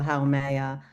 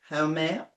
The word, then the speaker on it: Haumea: And just from Haumea, I'm going to try and pronounce every syllable now. Haumea.